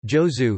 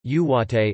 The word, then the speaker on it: 上手: One example is shangshou, which can be read in three different ways: jozu, skilled; yuwate, upper part; or kamite, stage left, house right.